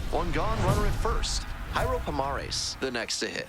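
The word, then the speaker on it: Jairo Pomares: His name is pronounced Yurro Pomares, not gyro.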